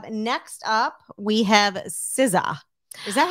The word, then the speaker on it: SZA: Next up, we have SZA. Is that how you say it? Yes. SZA.